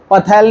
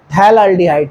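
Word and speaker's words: phthalaldehyde: P silent होता है, पथैल नहीं, थैलाल्डिहाइड।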